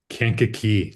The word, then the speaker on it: Kankakee: Kankakee. Look, I can pronounce that city in Illinois.